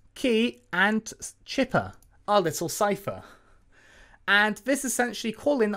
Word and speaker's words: cipher: I have to keep clarifying just in case someone thinks, oh, he's not pronouncing cipher properly. Yes, I am, but I used to call them chipper, like I said before.